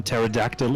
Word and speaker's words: pterodactyl: don't we why because the p in pterodactyl is silent why i don't